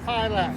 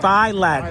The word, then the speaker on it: Filak: F with a long I, L A K. Filak. Filak.